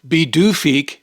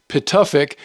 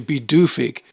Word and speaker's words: Pituffik: and in April of 2023, Thule was renamed Bidufik. Looking at the spelling, you'd think it would be pronounced Pituffik, but it's actually Bidufik.